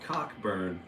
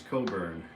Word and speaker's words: Cockburn: It's spelled Cockburn, but it's Coburn.